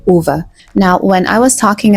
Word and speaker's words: Ove: I discovered that the correct pronunciation of our main character's name is not Ove and it's not O, it's actually Uva.